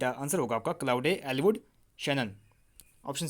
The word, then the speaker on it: Shannon: Option B में दिया गया है क्लाउड ई शैनन। यहाँ पे थोड़ी स्पेलिंग गलत लिखी है इन्होंने, ये आपका शैनरॉन नहीं होगा, ये आपका शैनन होगा, SHANNON होगा।